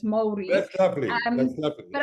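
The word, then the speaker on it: Māori: Maori. They're quite particular on how you pronounce it as well. So it's Maori.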